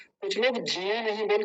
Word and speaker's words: ज्ञान: बड़ा ध्यान से समझिए, नहीं तो बहुत सारे आर्य समाजी यज्ञ बोलते हैं, यज्ञ, ज्ञान, ज्ञान, ज्ञान बोलते हैं, ज्ञान, ज्ञान नहीं, ज्ञान, ज्ञान, य। य का उच्चारण जब तक नहीं आएगा ना, तब तक भी गलत है।